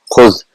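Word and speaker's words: خذ: Khuz will be the normal way, but it is not pronounced in this way. What it is pronounced is khuz.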